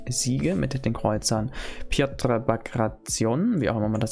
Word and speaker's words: Bagration: Also man sagt echt Bagration. Bagration. Piotr Bagration. Bagration. Piotr Bagration. Gut. Haben wir das. Okay, wie spricht man dann dieses Schiff aus?